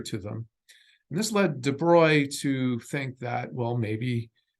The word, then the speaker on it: de Broglie: that I'm giving it but this is the de bruy matter wave and yes I am pronouncing it correctly I have conversations with uh you know other faculty and students who argue it's pronounced de broglie but no it's dubroy and the debris matter